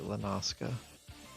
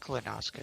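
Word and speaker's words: La Noscea: I just know in my head, I've always pronounced it Lenoska. Or I think Lenoskia. Lanoska is right.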